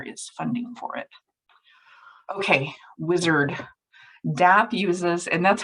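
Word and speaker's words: WISAARD: consider and there is funding for it okay wizard dap uses and that's how it's pronounced too i've heard it pronounced wizard in different in different ways but it's wizard w-i-s-a-a-r-d um dap uses this massive online database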